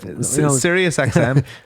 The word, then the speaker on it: Sirius XM: hear something that's right i don't want to pronounce it like a country that's all sirius xm it's sirius xm yeah so the siriusxm